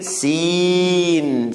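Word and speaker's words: سين: Seen is like S, sa.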